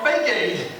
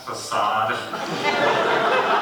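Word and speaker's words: façade: But I don't want to scratch my fake aid. It's pronounced facade.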